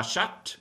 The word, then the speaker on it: chatte: La chatte, it's feminine, you do pronounce the T.